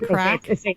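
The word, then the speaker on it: craic: know chatting with people they call it crack yeah they say that was good crack I've never heard that yeah if you're having fun and it's not spelled like C CK I think it's C IG or something but so had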